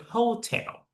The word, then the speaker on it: hotel: Yeah you cannot read hotel. That is the uh stress in the first syllable. But to be honest you need to stress in the second syllable.